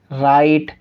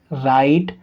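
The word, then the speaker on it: write: फिर W silent होगा आर से पहले डब्लू फिर डब्लू दे रखा है तो फिर यहां भी ब्लू साइलेंट होगा ठीक है इसको हम क्या बोलेंगे रंग राइट रेप समझ में हमने देखा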